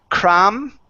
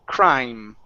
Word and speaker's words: crime: is with your pronunciation instead of saying cram okay it's a dip thong so it's I cry crime crime there you go